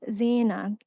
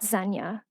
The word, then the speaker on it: Zeina: I correct my presence, my moniker, pronounce as Zena, which means adornment, not Zenya, which stands for adulteress, though I never said I'd be loyal.